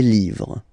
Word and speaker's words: livres: Okay, les, and then same rule, you just write livre, and then you put s at the end, but then you don't pronounce it. Les livres, le livre, les livres.